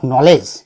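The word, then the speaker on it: knowledge: नॉलेज शब्द आप देखेंगे तो इसमें के का उच्चारण नहीं किया जाता। फ्रेंड्स, कई स्टूडेंट लोग को ये परेशानी होती है कि नॉलेज में के आया हुआ है लेकिन के का उच्चार क्यों नहीं है, बोलते वक्त हम के क्यों नहीं बोलते, तो हम नॉलेज क्यों बोलते हैं, क्योंकि के ए साइलेंट लेटर है।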